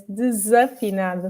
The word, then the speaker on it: desafinado: pronunciation when he sang desafinado? Oh, okay. I didn't know he did that. Okay, I'm going to correct you there. It's desafinado. Of course it is, because there's an A after it.